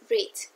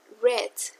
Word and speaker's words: read: En infinitivo se escribe así y se pronuncia read. En pasado simple se escribe igual, pero se pronuncia red, como el color.